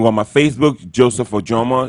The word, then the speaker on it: Ojomo: So it's pronounced Ojomo. You can miss it. And that's my name. And you can go on my Facebook, Joseph Ojomo.